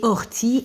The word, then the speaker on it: ortie: Et ortie également un E muet à la fin.